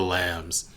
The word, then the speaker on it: Lam: The Silence of the Lambs. My last name is actually Lamb, except for it's spelled Lam.